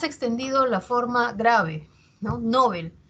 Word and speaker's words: Nobel: en otro lugar Sí eso pasa por ejemplo con no Nobel que nosotros muchas veces pronunciamos Nobel eh Y no no se escucha que se pronuncia Nobel no sin embargo si verificamos en el diccionario panhispánico de dudas esa palabra su origen es aguda esa palabra es aguda